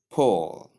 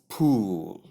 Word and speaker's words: Paul: Number 10, which is Paul. It's pronounced as pole, not pool. Many people do call it pool.